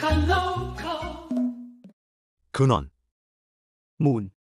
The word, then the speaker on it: มูล: มูล มูล 문처럼 발음, 은 근원, 출처 또는 기초를 의미합니다.